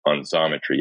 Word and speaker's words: Xometry: But getting your take on Xometry, X, pronounced like a Z, was helpful because some